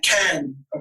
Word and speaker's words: Cannes: You probably got most Americans say Cannes, and I think the French say like can. Yeah. Right. So then I say can, like tomato soup can.